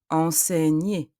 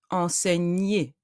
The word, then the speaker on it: enseigner: Enseigner, élève. G and N produce the sound N. Enseigner. ER, at the end of the word, ER, produce the sound E.